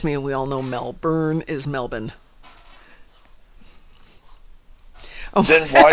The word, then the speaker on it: Melbourne: Didn't get that R out. Getting to get that R out. Yeah, it threw me. Sometimes for a while. That's just an accent, though. There's a lot of accents where the R just doesn't come into play. This is true, but I would bet that WC agrees with me that it is Melbourne.